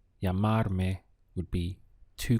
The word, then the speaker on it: llamarme: Let's go through the syllables. We have ya, mar, me. Llamarme would be to call me.